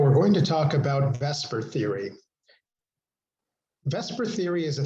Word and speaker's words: VSEPR: V SPR or pronounced vesper for short stands for veence shell